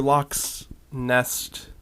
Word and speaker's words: Lauk's Nest: hello everyone and welcome to locks nest which sounds very close to Loch Ness though it could be pronouncing it completely wrong but this is a